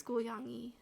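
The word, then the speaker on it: 고양이: like not the word, but like the letter like that's similar to G, it sounds like a K almost, but it's like it's really far in the back of your throat. Like it almost sounds like a K, but it's like a mixture between a K and a G.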